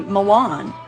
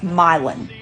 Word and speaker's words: Milan: are just pronounced wrong you think this would be Milan like you know the city in Italy no it's milin milin oh you know